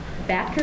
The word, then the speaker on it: Batker: Batker, is that how you pronounce it? That's correct.